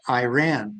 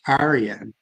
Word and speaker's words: Iran: are the same meaning we pronounce it Iran but the the true point of it is Aran and that's how they